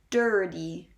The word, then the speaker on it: dirty: r that goes but you are sure to pronounce after the vowel i the r sound that it is clear in there it is not dirty